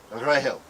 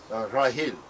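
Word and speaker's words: רחל: The original pronunciation of Rachel in all the Semitic languages sounds almost identical to Grail, Rahel, Rahil.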